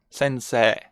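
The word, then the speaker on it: 先生: sensei it's sensei sensei notice how what i do is to enlarge this last e e so we it's like 2s sensei sensei sensei that's what they call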